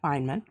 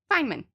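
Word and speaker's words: Feynman: knowledge okay so this Richard Fineman that's how you say that Fineman it's spelled f y n oh m a n Fineman yeah I'm I'm sure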